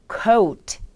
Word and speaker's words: coat: 코트 역시 그냥 코트가 아닌 coat, coat 이렇게 발음을 해주시면 됩니다.